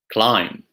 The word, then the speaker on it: climb: other examples might include calm doubt receipt lamb climb try it walk salmon calm doubt receipt lamb